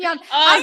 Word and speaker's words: Yeun: I actually just looked up a video how to pronounce his last name. Stephen Yeun.